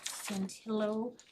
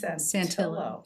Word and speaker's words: Santillo: Um, then I would make a motion to appoint Christian Santio Santillo uh to our uh communication advisory committee.